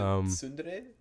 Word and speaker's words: tsundere: is a tsundere. Is it tsundere? Or... Yeah. Yes. Okay. Get your pronunciations right.